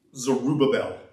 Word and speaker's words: Zerubbabel: Zerubbabel.